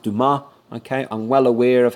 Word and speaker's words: Dumas: I know that name, being a French person, should be pronounced Dumas.